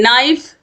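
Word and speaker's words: knife: के तो देखिए नाइफ नाइफ मतलब चाकू जिसमें के साइलेंट है नॉक मतलब दरवाजा खटखटाना नाइट मतलब योद्धा के एन आई जी एच टी नॉलेज मतलब ज्ञान इन सभी में जो के है ये साइलेंट है क्वेश्चन नंबर 68 है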